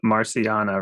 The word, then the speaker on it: Marciana: I always get your name wrong. Marciana, right? Marciana, is that right? Yes.